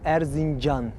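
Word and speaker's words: Erzincan: what's its name i know i could never pronounce it it's called arzinjan arzin john john yes which is an old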